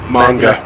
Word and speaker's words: manga: when I like read all the Dragon Ball Magma. The Dragon Ball Magna Carta. Oh my god, I can't remember how to say it now. The Dragon Ball Magma. Manga.